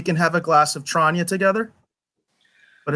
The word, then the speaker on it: Tranya: Or Tranya. That's how you pronounce it.